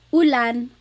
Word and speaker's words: ulan: So ulan, upuan, rain and chair, U. Not like under or umbrella. The letter U in Tagalog has an U sound.